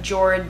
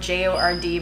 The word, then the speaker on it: Jord: It's a wooden watch, and the company I found out it's pronounced Jord. It looks like Jord, J-O-R-D, but it's Jord.